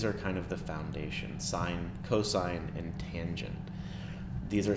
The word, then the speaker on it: sine: of these so sine we pronounce this as sine even though it looks like sin cosine we pronounce as